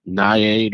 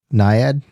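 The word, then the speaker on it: naiad: comes from the nymphs and the goddess like niad or I can't pronounce it but it's n a i a d niad.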